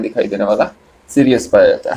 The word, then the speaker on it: Sirius: सबसे ब्राइटेस्ट जो स्टार है आसमान में जो दिखता है उसका नाम है सीरियस। स्पेलिंग आप लोग देखिए, SIRIUS, सीरियस।